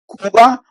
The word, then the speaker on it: Cuba: And then we have Cuba, and you can see that the pronunciation will be Cuba. It's not like some people in English will say Cuba, Cuba. No, it's Cuba, Cuba.